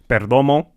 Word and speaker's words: Perdomo: He's Latino so I'mma pronounce it with with the rolled R. So Perdomo, if you're mad about that too, oh well, you.